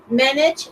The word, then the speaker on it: manage: the correct answer yeah manage is like this because if if you wanna if you think it is like company to begin with three syllables but it has just two manage yeah Felix is